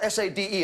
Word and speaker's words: Sade: Sadie, spelled S-A-D-E, and pronounced Sade.